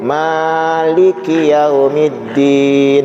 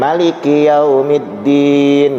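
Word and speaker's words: مالك يوم الدين: Nah jemaah sekalian rahmati Allah, saya ingin menjelaskan bahwa ada dua cara membaca ayat ini. Umumnya kita di Indonesia membacanya itu Maliki Yaumiddin, panjang namanya, artinya pemilik. Ada lagi ulama yang membolehkan membacanya pendek, Maliki Yaumiddin gitu.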